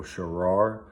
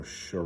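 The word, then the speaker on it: Shaara: It was by author Michael Sharar. I think that's how you say it. I've heard two different ways where you can say it, but I think it's Michael Sharar or Shara.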